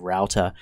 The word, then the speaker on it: router: of cash or I might say Rooter instead of router you just have to